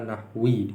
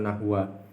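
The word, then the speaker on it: النحو: Hadza an-nahwi, kalau ini majrur ini juga majrur, maka nahwi dibacanya, bukan nahwu atau bukan nahwa.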